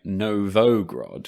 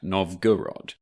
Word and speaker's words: Novgorod: this week we should apologize for a slight mispronunciation of the word or town novgorod i think we spent all of the last episode saying no vogue rod when it's in fact novgorod so we look forward